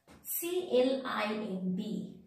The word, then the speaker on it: climb: That means whenever letter B is sitting just after the letter M, in that case, we are not pronouncing letter B. In that case, letter B is the silent.